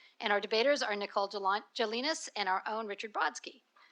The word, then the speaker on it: Gelinas: Commissioner Polly Trottenberg, and our debaters are Nicole Jelinas and our own Richard Brodsky. Did I pronounce that wrong? Okay. Gelinas? Jelinas, okay.